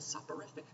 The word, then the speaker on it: soporific: Soporific just means, I think that's how you pronounce it. Am I pronouncing that wrong? Up in my dictionary. Yeah, no, that is correct.